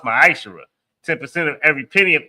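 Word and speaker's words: מעשר: Means 10th in the Hebrew and is pronounced ma'ashera.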